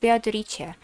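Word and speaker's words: ベアトリーチェ: So Beatrice in katakana, Beatorice, is actually pronounced Beatorice.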